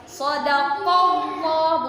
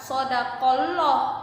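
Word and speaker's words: صدق الله: bila sedangkan lafadz takzib sodakowloh Iti bacanya tebal atau tafkhim sodakowloh bukan sodakoloh tapi Pondok komboh tebal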